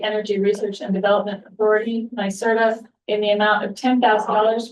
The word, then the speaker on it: NYSERDA: NYSERDA.